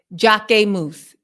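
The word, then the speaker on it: Jacquemus: designer okay uh oh Jack moose marinaa thank you so much that's how you say it that's how you say Jac moose oh wait jock moose jock moose jock moose but yeah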